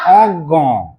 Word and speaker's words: অজ্ঞ: এইখানে কি বলে দিলাম যদি গ এর রকম উচ্চারণ হয় তাহলে ইয় টা পরে আছে কি বলে দিয়েছি গ এর রকম উচ্চারণ তাহলে ইয়টা আছে যেমন বিজ্ঞান বিজ্ঞান অজ্ঞ অজ্ঞ কেমন হচ্ছে গ অজ্ঞ বলো অজ্ঞ নাকটা কেমন আছে একটু মোটা মোটা হ্যাঁ অজ্ঞ বিজ্ঞ অজ্ঞ